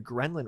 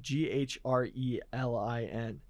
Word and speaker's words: ghrelin: do with like your Gremlin receptors I'm not familiar with the gremlin receptor GH I'm probably mispronouncing it g-h-r-e-l-i-n Oh I thought you're saying Kremlin ghrelin okay this dude was in